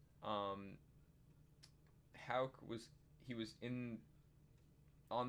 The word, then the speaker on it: Houck: they're also calling up tanner hauck i believe it's pronounced um houck was he was in